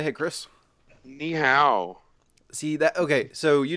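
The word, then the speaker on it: 你好: Is ni hao Chinese? Well, I didn't say it correctly. I didn't say it with the right tone, but yeah. What's the right tone? That's more like ni hao.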